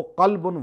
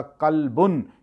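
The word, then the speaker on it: قلبًا: وہ دل رکھتا ہو، قلبن وہ دل رکھتا ہو۔ اب یہاں قاف دو نقطوں کے بجائے میں ڈنڈی والا قاف پڑھ لوں تو اس کا معنی ہوگا قلبن، یعنی کتا، معنی چینج ہو گیا۔ قرآن اس کے لیے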